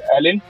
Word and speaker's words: Elyn: Yes, Castaway is the first song of the release I Broke My PC from my band Elyn, which is spelled E-L-Y-N, and it was released last year around March.